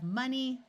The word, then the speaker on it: money: In these three words, the O is going to schwa and sound like a short U. So we have money, honey, and monkey.